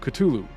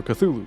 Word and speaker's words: Cthulhu: Today I wanted to give worshippers of Cthulhu, or Cthulhu, depending how you say it, the great dreamer's name.